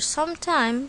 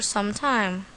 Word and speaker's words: some time: She has lived with her uncle for some time. Tip: try to put a pause between the words some and time. We don't pronounce it like sometimes. Sometime, sometimes. See the difference?